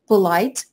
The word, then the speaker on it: polite: Polite, вы видите, что он заканчивается, это прилагательное, на «и», но «и» немая, она не читается, поэтому слог она не дает. Да? Поэтому polite, два слога, на последний слог ударения, на второй, будет образовывать по этому же способу.